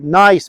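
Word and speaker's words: gneiss: I'd look at the rock types around here and I'd say, oh, nice, metamorphic rocks, something, you know, it's a different environment here. Nice spelled with a G. G-N-E-I-S-S, nice.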